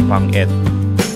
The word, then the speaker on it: Pangit: The floating resto is called Pangit, or if you read it like I do, it's Pangit, which in Tagalog is ugly. But in Coron, it's actually a local word from their dialect called Kuyonon, and I think it's pronounced Pangit, which means firefly.